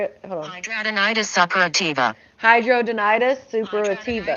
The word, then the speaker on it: hidradenitis suppurativa: Hidradenitis suppurativa. Did you hear it? Hold on. Hidradenitis suppurativa. Hydrodenitis suppurativa. Hidradenitis suppurativa.